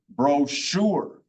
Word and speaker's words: brochure: So for instance, the word brochure. See, the soft CH sounds like the combination of SH. So brochure, and I can't think of any others right at the moment, but there are times when CH sounds like an SH.